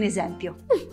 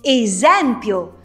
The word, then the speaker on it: esempio: il senso eccoti un esempio usiamo proprio quest'ultima parola si dice esempio non esempio Purtroppo questo accento non